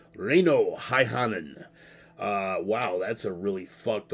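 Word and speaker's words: Reino Häyhänen: I'll pronounce it for you first. Reino Haihanen. Reino Haihanen.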